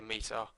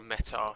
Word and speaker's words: METAR: be fully aware of how to read a meta or a meta depending on how you wish to pronounce it um so this